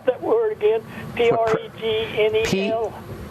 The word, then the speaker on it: pregnenolone: P-R-E-G-N-E-L? P-R-E-G, like pregnancy, preg. Yeah. N-E-N, like nen. N-E-N? Yeah. O-L-O-N-E, olone. Just think 3 words. O-N-E, preg, nen, olone.